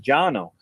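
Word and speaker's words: Cano: osgener but jono is spelled c-a-n-o but it's pronounced Jano so in 1968 he started CAO pipe company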